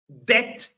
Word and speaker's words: debt: yes so again so these four words all of them they have a B and all of them or in all of them the B is not pronounced the B is silent.